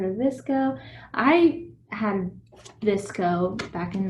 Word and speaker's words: VSCO: of you heard of this go i had visco back in like 2012. i always thought it was pronounced vsco but the younger folks that it's pronounced visco so we'll go with that so good deal